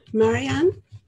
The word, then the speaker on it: Marijan: Branka Marijan.